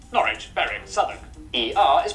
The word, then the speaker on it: Norwich: okay it's pronounced stir w at the start of the final syllable is silent Norwich Southern ER is pronounced